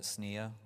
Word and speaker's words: SNIA: So I think for persistent memory, it's get involved at SNEA, where I think there's a lot of activity, and also JEDEC.